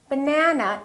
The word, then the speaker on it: banana: For example, if I say the word banana, banana has 3 syllables. Let's take a look. So we have banana. This second syllable is stressed. That means this vowel is going to be much longer. Repeat, banana, banana. So the a is going to be prolonged.